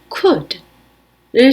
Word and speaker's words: could: 할 수 있었다 과거형 could를 살펴보겠습니다에서는 중간에 L 발음이 안납니다 그래서 이렇게 발음하면 됩니다 그래서 가을 표현하는 할